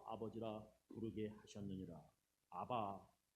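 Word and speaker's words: אבא: 우리 마음 가운데 보내서 아빠 아버지라 부르게 하셨느니라. 아바 성경에는 아바라고 썼는데 이게 원래 발음이 아빠라는 거예요.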